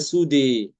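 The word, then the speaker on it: سدى: Sudah di surah alqiyamah ayat ke-36 itu dibaca dengan imalah pada dal dan fathah ee alif alif setelahnya bacanya sudi ya.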